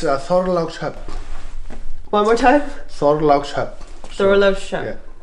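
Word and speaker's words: Þorlákshöfn: I've been trying to figure out how to pronounce it. It's Thorlákshöfn.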